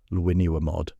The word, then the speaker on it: Llwynywermod: Luinuamod. Even the name carries the weight of Welsh history, pronounced with that distinctive doublel sound that marks it as authentically Celtic.